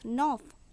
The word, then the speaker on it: neuf: NEUF, নফ, নফ means নবম। CIL, seal, seal means চোখের পাতা। এখানে সিএফএল থাকায় এই শব্দগুলি সম্পূর্ণ উচ্চারণ হচ্ছে, অর্থাৎ শুধুমাত্র এই ব্যতিক্রমী